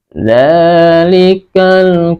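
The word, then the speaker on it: ذلك: Nah, kemudian ayat yang kedua, yang selanjutnya, dzalikal kitabu la raiba fih. Nah, ini za. Jadi jangan salah baca, dal dengan zai itu beda.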